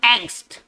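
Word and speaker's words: angst: इसको पढ़ेंगे एंग्स्ट। ये इंग्लिश में इस्तेमाल होने वाला बहुत ही फ्रीक्वेंट वर्ड है, आप ऐसा समझिए, ठीक है ना। एंग्स्ट का बहुत ज्यादा इस्तेमाल होता है। एंग्स्ट एक जर्मन वर्ड है, आप ऐसे समझिए, और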